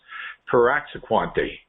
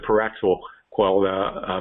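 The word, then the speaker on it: praziquantel: It's Piraxaquante, I think is how you pronounce it, Piraxaquante. Praziquante is the medication.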